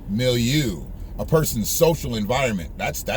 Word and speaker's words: milieu: Let me see how you pronounce it. Milieu. Milieu.